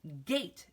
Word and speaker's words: gate: you find the word gate because without that e it would be get act but we have been learning that that E is silent and it makes it say things so it is gate good 8 all right